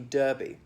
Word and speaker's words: Derby: a horse race like a derby the kentucky derby now we have them as well we pronounced it a derby now there is a